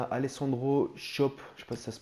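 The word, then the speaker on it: Alessandro Schöpf: une carrière avec schalke 04 ensuite on à alessandro shop je passe ça se prononce comme ça 77 général 22 ans voilà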